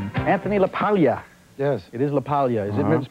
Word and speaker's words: LaPaglia: Anthony pleasure please Anthony laala yes it is laalia is it mispronounced often all the time as laaga laaga laaga laia you name it I get